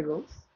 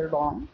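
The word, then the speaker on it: wrong: ঠিক তারপর একটার ক্ষেত্রেও একই রোলস, ডাব্লু আর এন জি আছে রং, তো আমি ডাব্লু উচ্চারণ না করে করেছি রং, যার অর্থ হচ্ছে ভুল।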